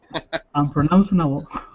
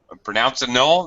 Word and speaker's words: unpronounceable: Unpronounceable. Bull. You need the B sound.